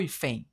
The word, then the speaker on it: hífen: Eu falo hífen ou hífen? Eu falo hífen. Portanto, a sílaba tônica é a penúltima.